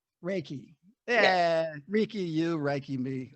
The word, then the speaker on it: reiki: reikay who's what can somebody give me the pronunciation reiki yeah ricky you reiki me all right so